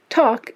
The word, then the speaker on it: talk: Talk is etymologically related to the word tell. Walk comes from an old verb walken. Is there still an L pronounced in talk and walk?